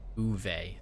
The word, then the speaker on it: Uwe: Uwe is how you say his name.